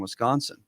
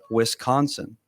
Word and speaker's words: Wisconsin: so Roz is supposed to be from Wisconsin. But Oh, is she? She pronounces it Wisconsin.